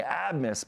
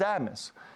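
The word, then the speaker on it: Abmas: Max Asus okay but his name is spelled ABB M and so for the longest time I've been saying admus because you just read it on paper and it's Abus and that's a little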